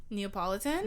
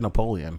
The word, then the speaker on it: Neapolitan: three colored ice cream neapolitan yeah he's gonna have that how you pronounce it yeah i always said napoleon napoleon i did too